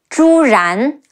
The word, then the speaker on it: Zhu Ran: Sheng, Xu Sheng, and Zhu Ran, Zhi Wu Zhu, Zhi An Ran, Zhu Ran.